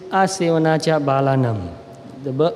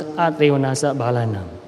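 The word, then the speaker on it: asevanā ca bālānaṃ: In Pali it is Asevanacha Balanam. In Burmese we pronounce in a slightly different way. We pronounce Atrevanasa Balanam.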